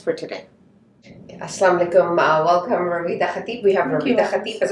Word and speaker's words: Rawieda: My name is Rawieda Khatib, pronounced Rouyda in Arabic.